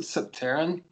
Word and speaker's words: Subterraen: uh it's it's clem from and is it subtarian is that how you pronounce it yes um i pronounce it subterrane yeah uh it's um i know it seems